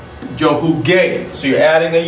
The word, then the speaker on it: jugué: So if you pronounce that by rules of pronunciation in Spanish, you would have huge, and you miss that whole hard gar sound. So jugar. We want to maintain that hard G.